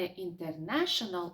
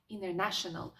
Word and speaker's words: international: Дивись, в американській вимові існує таке поняття, як silent to, коли літера пишеться на письмі, але не вимовляється.